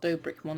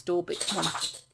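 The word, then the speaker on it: Dorbickmon: You know you said his name wrong, right? Dobrikmon. You said Dobrikmon. It's not Dobrikmon, it's Dorbikmon. It's Dobrikmon, if you play that again.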